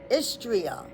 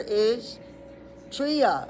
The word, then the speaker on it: Istria: So that sounds close to Austria, but it says regions like is. So it's is like is going to the store is tria like Austria t r i a is tria the let's start over